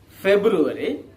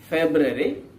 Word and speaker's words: February: that the second month february is pronounced in four different ways one is february the second one is february the third one is february and the last one is february and you do have